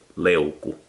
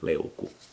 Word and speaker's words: leuku: So the leuku knife it's said leuku, quite dry, like leuku.